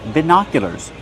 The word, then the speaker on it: binoculars: These are called binoculars. Hunters use binoculars to see animals far away. How do you pronounce it? Binoculars. Use the short sound like this. Is bina. Put the stress on the second syllable.